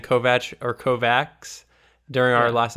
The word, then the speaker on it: Kovacs: to revive first off I said Kovaks forever like every time I said his name of the first episode and I'm surprised you didn't correct me it's Kovach I and I heard